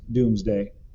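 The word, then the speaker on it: Domesday: the result was the doomsday book pronounced doomsday which listed every castle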